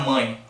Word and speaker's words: mãe: Então você tem um I aqui. Então a letra termina com E, mas ela tem o fonema I ali.